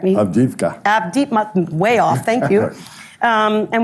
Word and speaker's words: Avdiivka: I probably mispronounced that. Can you correct me? Avdiivka.